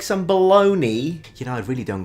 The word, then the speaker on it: Bologna: I understand that a lot of Italian words finish with an I and are pronounced ni, like Panini, Armani, but there is a GNA. How on planet Earth can that be baloney?